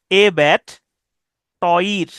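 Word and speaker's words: abattoir: অথবা আবাট, এ ব্যাট, এভাবে উচ্চারণ করতে পারেন। এ ব্যাট, ক্রিকেট ব্যাট, এ ব্যাট, টয়ির, এ ব্যাট টয়ির।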